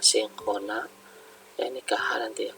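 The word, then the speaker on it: Cinchona: Nah, ini CH dibacanya KH, contohnya sincona, cara bacanya adalah sinkona.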